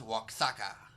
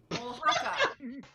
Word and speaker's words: Oaxaca: Amanda Salad threw in and said to see how Ben pronounces Waxaca. Oaxaca.